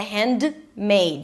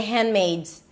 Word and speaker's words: Handmaid's: The handmaids. The handmmaids. The handmmaids. Right. And if you want to pronounce it properly, the hand. The D is a held D. You don't release it.